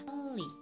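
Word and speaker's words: 팔리: Untuk contohnya adalah palri, harusnya dibaca palri, tapi yang benar pengucapannya adalah pali.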